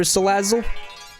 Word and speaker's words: Salazzle: I mean, like, the word sleazy is in the name for Salazzle. Salazzle. Like, it's sleazy. Like, you just want to say it like a sleaze bag.